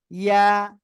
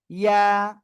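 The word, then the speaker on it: ي: এরপরে যে অক্ষরটা শিখেছি সে অক্ষরটা এ অক্ষরটা, জিহ্বার মাঝখান তার বরাবর উপরে তালুর সঙ্গে লাগিয়ে আমরা উচ্চারণ করব সিম্পল ভাবে, ইয়া, এক আলিফ টান হবে। ঠিক আছে, সবাই বলেন ইয়া।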